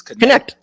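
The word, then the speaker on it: Knecht: And then also Dalton, like how you say his name, I've been saying Necht. It's Connect.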